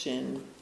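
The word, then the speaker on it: 身: So here's body. It's pronounced shin.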